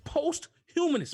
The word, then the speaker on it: posthumous: how to pronounce it it's never pronounced it's like posthumous or possibilities it's not it's posthumous post as in after yeah